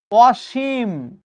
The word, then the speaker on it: অসীম: অসীম আমরা যখন লিখি দন্তস লিখি। কিন্তু যখন আমি উচ্চারণ করি দেখোতো তালব বসার মত উচ্চারণ করি কিনা জাস্ট থিংক ইউরসেলফ এটা